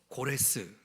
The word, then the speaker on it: 고레스: 인물인데 그가 바로 누구냐면 영어로는 사이프러스라고 발음하지만 실질적으로 고레스 들어보셨나요 고레스라는 왕 왕이 바로이